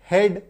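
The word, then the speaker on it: head: तो अगर आपको किसी शब्द में ई ए देखने को मिले तो समझिए वहां पे उच्चारण जो है वो एकार की मात्रा लेकर के आएगा। जैसे कि बी आर ई ए डी ब्रेड, एच ई ए डी हेड।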